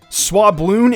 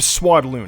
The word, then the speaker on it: Swadloon: Swabloon instead of Swadloon.